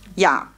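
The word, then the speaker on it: Я: Ja. Ja heißt ich, ausgesprochen ja. Ich heißt auf Russisch ja. Ein Buchstabe nur, der letzte im Alphabet.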